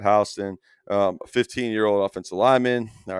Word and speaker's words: Houston: There, deep south they pronounce that Houston.